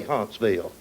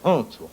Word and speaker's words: Huntsville: Of course, now, if you're from Huntsville, you don't say Huntsville. You say Huntsville.